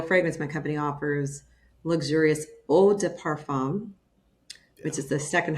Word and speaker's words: eau de parfum: I'm part redneck, so I can't pronounce that. I don't. Eau de parfum. It's Eau de parfum.